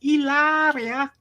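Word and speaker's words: Hilaria: I read an amusing story about Alec Baldwin a couple of years ago, that Baldwin's wife, Ilaria, it's actually Hillary, but she insists it's pronounced Ilaria because she's actually Spanish, but she isn't.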